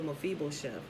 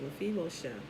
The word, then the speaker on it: Mephibosheth: That's why Jonathan didn't kill Mephibosheth, right? I think that's how you pronounce it, Mephibosheth.